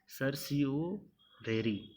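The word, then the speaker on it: certiorari: तो अब आपका नेक्स्ट आता है सर सिरोरी, ओके। इसका प्रोनाउंसिएशन थोड़ा हार्ड है, तो ये है ना सर सी ओ रेरी, ओके।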